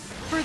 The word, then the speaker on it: Fi: here we go when for the last time it's not fe's fault that you didn't charge your Remo yeah I love fee I know her name is technically pronounced F but I'm I'm bitter about that